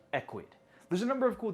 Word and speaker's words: Ecwid: That's Ecwid, pronounced Ecwid.